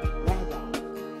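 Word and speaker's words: radah: The word dominion, right away, dominion, this word in the Hebrew language, Genesis 1:26, is the word R-A-D-A-H, Radha. Sometimes it's spelled R-A-W-D-A-W, depending on the translator.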